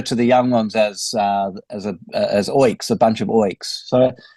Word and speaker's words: Oiks: Okay, firstly, how do you pronounce the new album? Is it Oiks? Oiks, yeah.